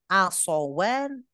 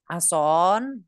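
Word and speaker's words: عصوان: Jadi kita bacanya asowan, asowat. Asowan 2 tongkat, asowat tongkat-tongkat. Yang nggak boleh kita bacanya adalah ason, nggak boleh ya, ason ya.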